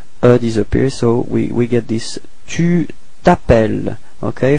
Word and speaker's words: tu t'appelles: We're starting with voyelle, so it's the same thing as previously, disappears, so we get this tu t'appelles, okay, final S is not pronounced, tu t'appelles, repeat.